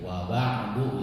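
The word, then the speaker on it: وبعد: Pakai ain, wa ba'du gitu ya.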